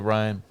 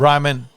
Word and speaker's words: Ryman: ] number one game you get play the Ryan leave Ryman sorry Ryan Ryman what' you call it Ryan so I just wouldn't pronounce it right Ryman Auditorium in Nashville what'